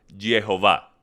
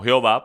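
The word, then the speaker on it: Yahveh: entonces según estos manuscritos la forma más apropiada de pronunciar su nombre sería viejo va no jehová pues sabemos que la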